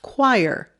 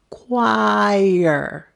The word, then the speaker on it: choir: students usually have problems with this word it's pronounced choir that ch is quoi like in q u choir isn't english fun let's practice choir choir choir now the next word is even crazier